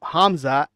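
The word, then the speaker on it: Khamzat: old Hamza lip smash speaking about hamzat we got the silent k uh let's watch this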